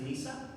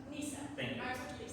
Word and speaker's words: Neysa: Looks like we're going to the next question and this one may start starts with the correct pronunciation is Nissa. Nissa.